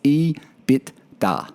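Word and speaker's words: EBITDA: uh bernard's number plate we couldn't pronounce it in his instagram handle it's e bit da there you go bernard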